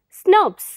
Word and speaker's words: snRNP: protein complexes called snrnps small nuclear ribonuclear protein pronounced as snubs they contain a set of five uridine Rich